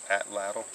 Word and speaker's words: atlatl: against the flow and seems like most folks say at atlatl because it rolls off the tongue easier is that a couple